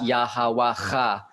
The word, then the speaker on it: Yahweh: Is Yahweh, is the Proto-Hebrew pronunciation of that.